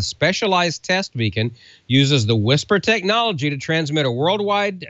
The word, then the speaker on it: WSPR: And you spell that WSPR, and you know what that stands for, the weak signal propagation reporting. The Whisper Light is the specialized test beacon, uses the Whisper technology to transmit a worldwide network of receiving stations.